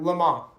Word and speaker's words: Le Mans: Le Mans.